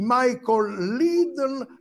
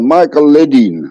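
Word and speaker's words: Michael Ledeen: Ci racconti di questa vicenda di Michael Lidl affinché ne parlasse poi con Henry Kissinger, l'uomo... Allora, ancora... Michael, sì, la pronuncia esatta, Michael Ledin.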